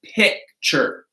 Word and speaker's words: picture: So, but just know if it is the stressed syllable, hard T. If it's not the stressed syllable, ch.